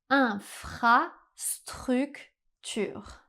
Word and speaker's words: infrastructure: Pour prononcer le r français, essayez d'imaginer que vous faites des gargarismes dans votre salle de bain.